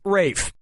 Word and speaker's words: Ralph: up yep ray Fiennes first name is spelled like Ralph but pronounced Rafe and his brother Joseph